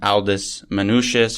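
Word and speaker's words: Aldus Manutius: in the city was one Aldis manuous or Aldo manuo depends on on how you feel like pronouncing it and he was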